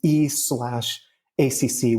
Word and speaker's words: e/acc: I think the best way to understand effective accelerations, or the acronym is E/ACC, which they pronounce EAC.